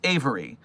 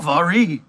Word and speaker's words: Avery: Oh, thank you, Avery, for telling me your name is pronounced Avery. For some reason, I thought you might be French based on the spelling, and so I was like, uh, Avarie.